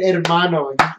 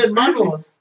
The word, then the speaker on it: hermano: Said hermano. When you say hermano, I'm like, fuck. Shit. So if I just say that to you, I can get you to do anything? No, because we're not hermanos.